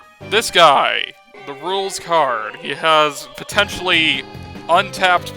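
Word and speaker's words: Rouxls: Fun fact, it's pronounced rules.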